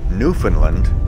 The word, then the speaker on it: Newfoundland: 2001 to include the name labrador and it's pronounced newfoundland and labrador this next geocache is called